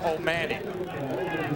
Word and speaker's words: O'Mahony: It says O'Mahony, but he pronounces it O'Mahony.